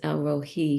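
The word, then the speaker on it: El Roi: she I believe it's pronounced Elro Hei.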